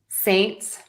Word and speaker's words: Saints: Saints, Saints.